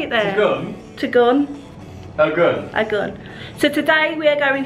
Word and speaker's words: Tegenungan: Tegenungan.